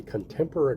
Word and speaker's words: Contempora: You can find it on a website called the Contemporary Corner.